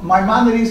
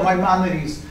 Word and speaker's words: Maimonides: But the rabbis, as anybody could look, there's responses from the Maimonides, how do you pronounce it in Spanish? A codifier of Jewish law, Maimonides.